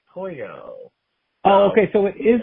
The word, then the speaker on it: pollo: The L's are pronounced like a Y, like pollo.